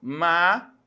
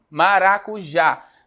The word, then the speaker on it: maracujá: Maracujá. Maracujá. Olha só, aí qual é a sílaba tônica que eu tenho? Ó? Maracujá. Mais forte é o já, né?